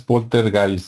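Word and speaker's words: Poltergeist: o bueno polter guys No porque nosotros lo pronunciamos como se escribe pero como es alemán supuestamente es polter guys no y este las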